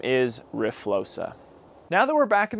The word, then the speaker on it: RFLOXA: this entire video that explains the pronunciation of our fla that's how I've been saying it the whole video but is actually riosa so just know that